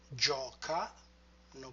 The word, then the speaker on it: giocano: And then giocano, always remember to retract the stress.